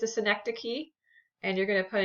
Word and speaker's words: synecdoche: together okay last one this is pronounced synecdoche synecdoche so you might might try